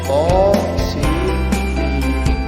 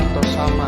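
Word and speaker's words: طسم: Asy-Syu'ara ayat 1, yaitu to sin mim. Nah, sama membacanya itu dibaca satu persatu, jangan disatukan to sama, ya dibacanya itu panjang 6 harakat atau 3 alif.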